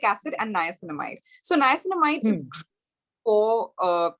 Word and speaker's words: niacinamide: Is that how it's pronounced? Yeah, salicylic acid and niacinamide.